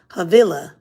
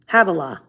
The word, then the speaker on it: Havilah: the pison pishon pichon i always get that name wrong pishon it winds through the entire land of havilla havilah where there is gold wow the gold of